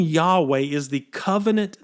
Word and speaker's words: Yahweh: israelites in hebrew it's only four letters we pronounce the word today as yahweh now the name yahweh which is often capitalized